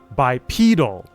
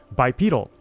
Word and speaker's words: bipedal: When you add the suffix to make it an adjective, the stress shifts to the second syllable and the e transforms into a long e sound.